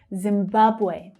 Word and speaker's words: Zimbabwe: Zimbabwe, Zimbabwe. The second syllable is the strong one.